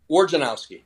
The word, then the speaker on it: Wojnarowski: What is proper pronunciation? Wojnarowski.